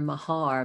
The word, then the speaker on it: Maher: i saw your name i thought we just pronounced it differently so where myers and your mahar but it really looks similar so i thought